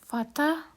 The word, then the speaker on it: Vater: Kalau Horen tadi R, Vater A gitu ya, Vater bacanya.